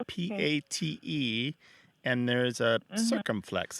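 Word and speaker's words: patte: So you translated, they sound almost the same, pot and pat.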